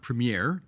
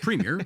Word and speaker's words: Premier: CNN that it's not premere it's Premier that's how you pronounce it up here uh number two did